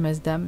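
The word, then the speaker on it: Maasdam: Parce qu'il y a une version avec le gouda à la place du masdam, mais...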